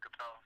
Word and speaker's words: Kapel: Instagram, my last name Kapel, so K-P-E-L, Kapel, kicking it.